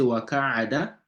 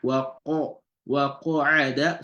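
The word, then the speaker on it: وَقَعَدَ: You don't say wa ka'ada. It's not wa ka'a, wa qa'ada. So it needs to be pronounced heavily.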